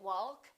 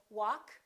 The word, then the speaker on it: walk: all right silent l we don't say walk and talk we say walk talk could would should silent